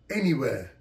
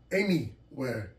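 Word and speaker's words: Anywear: tracksuit the logo's name is n e where pronounced anywhere anywhere a-n-y w-e-a-r anywhere he's situated and located in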